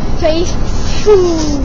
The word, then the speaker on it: Faithful: Faithful. Faithful, il faut que ça crache un peu, il faut que ça juque un peu.